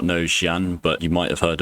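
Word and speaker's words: Xi'an: So, Xian, which is actually Zan.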